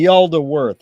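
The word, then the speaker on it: Yaldabaoth: Yaldaworth, I think it's pronounced. Okay, Yaldaworth.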